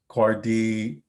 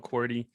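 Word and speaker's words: KUARD: a sanity test which is to use the cardi is that how you pronounce it by the way yeah so it's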